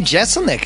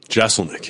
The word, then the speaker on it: Jeselnik: You said people pushed maybe to get a second S in there to make it easier. Yeah, to make it. Why would I do that? Because they think if it was two S's, Jeselnik would sound more correct.